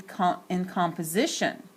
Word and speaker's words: composition: In composition, the second syllable, it's not clearly accented. Because the second syllable is not accented, the vowel sound in the second syllable of composition sounds like a schwa, like an sound.